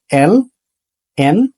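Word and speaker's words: ln: দেখা যায় অনেকেই এটাকে লন বলে এল এন কে বলে লন আসলে এটার উচ্চারণ লন না এবং এটা যদি কেউ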